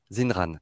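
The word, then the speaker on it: Xinran: Comment ça se prononce? Zinran. Zinran, d'accord.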